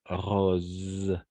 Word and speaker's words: rose: bien une rose alors à chaque fois que le S et il y a entre deux voyelles d'accord entre du voyelles on va prononcer comme un Z d'accord une rose d'accord une rose on